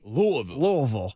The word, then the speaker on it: Louisville: The last 2 L's you don't have to emphasize.